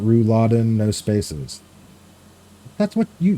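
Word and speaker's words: Rouladen: I think you missed it and it's pronounced Ru Laden. Ru Laden.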